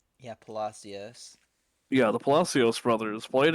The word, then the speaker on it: Palacios: But first, we'll talk about how you said their name is pronounced Palacios, right? Yeah, Palacios.